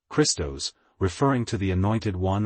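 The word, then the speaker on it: Χριστός: The initial sound in the word Christ, pronounced as Christos, referring to the Anointed One or Christ.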